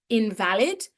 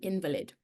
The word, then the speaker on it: invalid: But here we're using it as a noun and we're pronouncing it differently. An invalid.